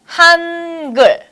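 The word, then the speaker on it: 한글: And this one over here is the l sound. L. L. Put it all together, it's gul. Gul. You get it? Hangeul.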